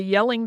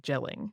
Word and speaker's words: Jelling: for on your own yelling is spelled with a J at the beginning so it's like jelling if you uh look at it and you're normally a um an American English speaker so the yelling Dynasty